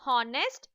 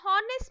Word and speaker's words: honest: Children, the words that starts with the vowel sound like honest or honorable should have an before them. Even though these words begin with the H, a consonant, when you pronounce them, the H is silent.